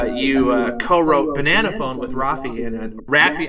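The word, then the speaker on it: Raffi: rafy rafy rafy see I always said rafie as a kid I don't know why it's an AR it's an Armenian name Rafi yeah oh okay well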